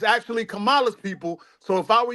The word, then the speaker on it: Kamala: We have all the best writers, and just so you know, her name is actually pronounced Kamala. See, that's why people don't understand. It's Kamala, right?